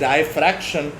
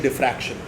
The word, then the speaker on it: diffraction: सो ये some people tend to pronounce it एज डायफ्रैक्शन, but it is actually diffraction.